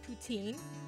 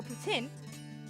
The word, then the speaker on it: poutine: around Calgary this week whether you pronounce it poutine or put in Calgary is serving up